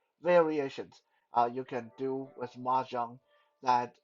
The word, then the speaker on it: mahjong: In Mandarin, how you say mahjong is mahjong. Yeah, you guys, you guys think mahjong was a special English word? No, it's just a word taken from its actual Chinese pronunciation, mahjong.